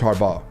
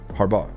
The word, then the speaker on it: Harbaugh: Harbo I always say Harbaugh it's Harbaugh Harbaugh I don't hear the G when you say it so you're good it's